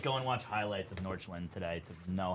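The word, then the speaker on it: Nordsjælland: I have to like go and watch highlights of Norchland today to know how to say their name. Norchland. It's like Norch. Yeah.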